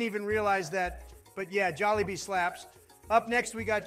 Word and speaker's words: Jollibee: First of all, it's pronounced Jollibee.